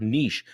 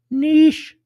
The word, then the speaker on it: niche: Just common pain points in your niche. Niche. Niche. Niche. Niche. Say which one you think it is. If it's niche, they ought to spell it nit.